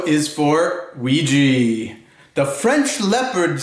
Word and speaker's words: Ouija: naughty or nice for Christmas o is for Ouija the French leopard says oui we'd love to